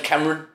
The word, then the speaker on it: Kamran: So me saying, my name's Kamran.